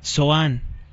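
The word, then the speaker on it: צֹעַן: la ciudad de patros Tanis en hebreo es soan y en la Biblia vulgata se pronuncia como tapnis aquí le llamamos Tanis pero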